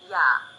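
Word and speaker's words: ㅑ: For instance, yah, also written as yah, is pronounced yah. Imagine that you are trying to say e and a very fast. Be sure not to pause in between pronouncing the two sounds.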